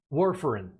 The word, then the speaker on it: warfarin: think very quickly was is it where foreign am i pronouncing that correctly warfarin yeah can you explain what